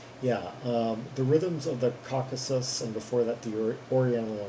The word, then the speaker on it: Caucasus: by Ganesh ensemble yeah the reason I had a hard time pronouncing that word before I played the songs that I guess I don't we go across that that regional name a few times and I guess some that in in my head before I had pronounced it as like the caucuses or something yeah and I would